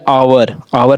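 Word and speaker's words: hour: ठीक है, लेकिन उच्चारण नहीं हो रहा है। फिर आवर में भी इसी प्रकार से है।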